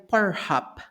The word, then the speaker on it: Pornhub: Hub Bueno lo primero Cómo diréis que se pronuncia sería pornhub pornhub porn Hub porub vale pornhop para que no habla inglés pornhop una de las páginas